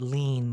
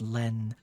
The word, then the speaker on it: Len: I know it looks like an I. It is not. It is not lean. It is pronounced Len.